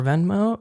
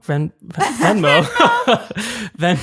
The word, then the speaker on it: Vendome: So the guy over at Vendome, family owned, only 6 more locations in LA. Do you work for Vendome? I do not work for Venmo. Vendome.